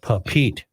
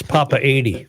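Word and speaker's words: Papeete: check it out okay I think I was pronouncing it papit I always think of a papa up it's Papa 80 Papa 80 Papa 80 that's an easy way to remember it isn't it Rook yes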